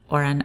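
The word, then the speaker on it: hora: this case guitar ace the h is always silent as in this example ora that means our so just pretend that it's not even there almoada pillow hombre man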